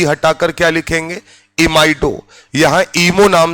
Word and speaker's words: imide: NH पर अगर -2 charge है तो इसे हम कॉमन भाषा में बोलते हैं इमाइड। IMIDE। यहां पर भी अगर हम बात करें तो ई हटाकर क्या लिखेंगे? इमाइडो।